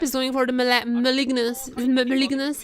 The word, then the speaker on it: Malignance: Also recap is going for the malignance malignance is how you pronounce it.